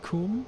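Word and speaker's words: cwm: alternative names are corey a welsh word with no vowels um pronounced coomb i think right pretty funny um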